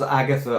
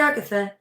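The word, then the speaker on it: Agathe: Joey says it was Agatha all along. Oh, very good. Oh, did I say Agatha? It's it's Agath. It's with an E on the end.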